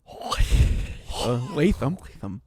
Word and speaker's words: Latham: Let's talk a little bit about our friend here in the news segment, Darren Latham. I believe that is the official the British pronunciation of his last name, Latham.